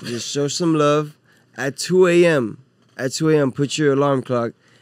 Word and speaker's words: 2twoAM: You know, 2AM IG, with the number 2, the word Spotify, 2AM. Twitter. You feel me? The T is silent.